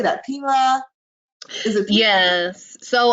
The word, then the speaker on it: Pima: So I went back after a year, and it is pronounced Pima. I just Pima.